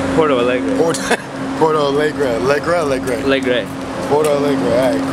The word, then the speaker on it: Porto Alegre: Porto Alegre? Porto Alegre.